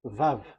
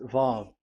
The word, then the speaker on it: Vav: Vav. So it's V as in Vogue.